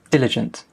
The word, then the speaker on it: diligent: Okay, where's the stress? Diligent. It's on the first syllable, diligent.